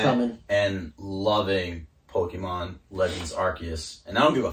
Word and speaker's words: Arceus: So, yeah, and for all you guys that don't know, Legends Arceus, it is pronounced Arceus according to the Pokemon Wikipedia, because in parentheses it says Arceus.